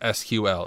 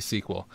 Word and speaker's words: SQL: Don't let them tell you it's pronounced SQL. It's definitely sequel.